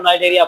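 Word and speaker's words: Cnidaria: इसको आप यहाँ सी जो है वो साइलेंट है, आप इसको नाइडेरिया पढ़ेंगे।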